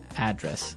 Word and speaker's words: address: live Y and there the stress is on the first syllable address right perfect very good